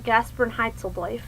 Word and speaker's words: Gasprenheitzeldojf: okay so the gaspan heitel affair that is pronounced gasperin heitel um it is how